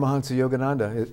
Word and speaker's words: Paramahansa Yogananda: then George Harrison and the Beatles actually also, pronounce his name so I don't get it wrong. Paramahansa Yogananda.